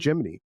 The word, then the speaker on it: Gemini: If you pronounced it the wrong slashcor the incorrect slashcorrect way like if you called it the Gemini program you clearly are uninitiated. like you need to be called Jiminy and it's like